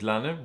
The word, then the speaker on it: Lannen: Good morning, my name's Richard Lannen, rhymes with cannon.